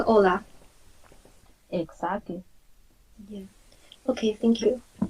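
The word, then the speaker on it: Hola: H in silence. Yes. Got it. Just like Ola.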